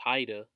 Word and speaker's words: Whydah: Kingdom so to speak which they called up wider pronounce Haida or as you can